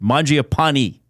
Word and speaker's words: Mangiapane: Mji a pani. E, not nay at the end.